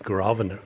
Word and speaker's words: Grosvenor: checked into the ravanar because it's spelled gross Verner grows better but it's grovana grosvenor and they gave us